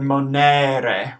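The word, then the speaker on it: monere: lot of the time but in Latin there's no such thing as a silent letter every letter every vowel is always pronounced so we're going to make sure to pronounce our long e a our short e yeah and we get the word manere with three syllables so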